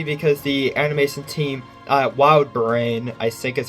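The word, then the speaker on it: WildBrain: the animation team at Wild brain I think is how you pronounce it I it's not wild Barn it's brain okay I I got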